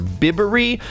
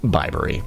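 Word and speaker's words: Bibury: me refer to this in the video as bbery I have a four-year-old daughter I was thinking about bibs so that's where that came from but it's pronounced bbery so just know that if you are visiting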